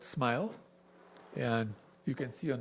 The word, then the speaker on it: SMYHL: So that's why it acronyms as SM YHL. So pronounces the same as smile.